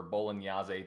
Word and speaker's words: Bolognese: I went to the actual place, in Sant'Agata Bolognese for Bolognese, depending on how you want to say it, or Bologna. Some people pronounce it Bologna.